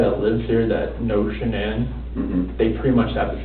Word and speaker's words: Shanann: Amanda, anybody that lives here that knows Shanann, they pretty much have the same contact list.